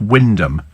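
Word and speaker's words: Wymondham: uh Windon ham when why mondom in Yorkshire pronounced Windom I'm not surprised nobody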